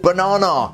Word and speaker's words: Bananar: This guy is called Bananar, which is how we pronounce banana in Leicester.